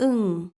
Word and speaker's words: ㅇ: as an initial consonant, Ieung (ㅇ) isn't pronounced at all but as a Batchim it sounds like 'ng (응)'.